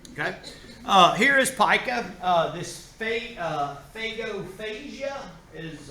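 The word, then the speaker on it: pagophagia: This phagophagia is how you pronounce this.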